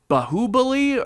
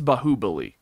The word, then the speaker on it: Baahubali: to watch, is it Baahubali or Baahubali? Cause I think it's Baahubali. That's how they said it in the movie. Baahubali. I'm pretty sure it was Baahubali.